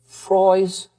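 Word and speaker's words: ffroes: Freys Frost. Miss Jenkins, you've got to call me again. It's spelled FF R O I S. Only the Welsh would spell anything. FF R O S.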